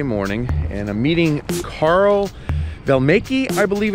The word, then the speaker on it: Voellmecke: it's cold first of all how do you pronounce your last name properly all right I'm sure I butchered that how